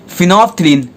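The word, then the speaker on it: phenolphthalein: क्या है, फिनोफ्थलीन, pronounce करो मेरे साथ, फिनोफ्थलीन, फिनोफ्थलीन।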